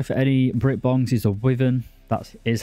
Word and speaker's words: Wyvern: An absolute must-buy for any Brit-bongs is a Wyvern. That is how you pronounce it.